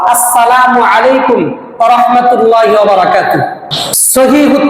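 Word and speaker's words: السلام عليكم: হ্যাঁ, আমরা অবশ্যই সালাম দেওয়ার সময় সুন্নত তরিকায় সালাম দিব, সালামের হামজা এবং মিমের পেশকে স্পষ্ট করে উচ্চারণ করব, আসসালামু আলাইকুম ওয়া রাহমাতুল্লাহি ওয়া বারাকাতুহু।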